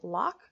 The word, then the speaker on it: LOC: equalize out that balance now Locke is pronounced Locke because you're locking your future in place with this habit I very much connect